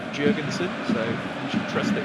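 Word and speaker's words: Jörgensen: it by the way Premier League released their pronunciation videos last week said jurgenson so you should trust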